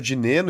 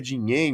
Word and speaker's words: Dinenno: Pelo que eu vi lá, o certo é de Neno e é mais fácil também de pronunciar. Então eu vou ficar no de Neno, viu?